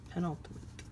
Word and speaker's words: penultimate: So it's like pen and ultimate without the E.